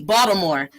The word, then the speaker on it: Baltimore: as box some more they pronounce it with a d baltimore and so that's an